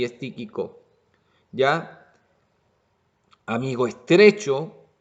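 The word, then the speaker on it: Tíquico: aparece es ti típico típico ahí con acento en el primer este hermano típico es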